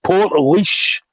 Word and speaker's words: Portlaoise: over to Ireland because you've been pronouncing this name very, very wrong. So, Portlaoise, I believe it is. So, Portlaoise.